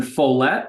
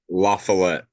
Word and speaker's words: La Follette: or the day before in Follett. Is that how you say it? La Follette. La Follette.